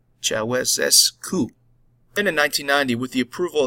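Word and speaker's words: Ceaușescu: until their dictator Nicolae Ceausescu was captured and executed I apologize I botched the pronunciation it's Chava s coup in 1990 with the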